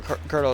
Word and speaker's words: colonel: I hate there's no R in colonel. Why is it pronounced that way?